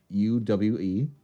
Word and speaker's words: Boll: It's actually Yui Boyle. Boll.